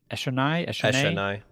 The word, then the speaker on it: Eshonai: How do you pronounce her name? Is it Eshonai? Eshonai. Eshonai.